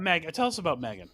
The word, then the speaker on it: M3GAN: Tell us about Megan, please. Well, it's spelled M3GAN, and she is basically a robot.